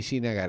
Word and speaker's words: Srinagar: Bueno, entiendo yo que se pronuncia más o menos así, Srinagar.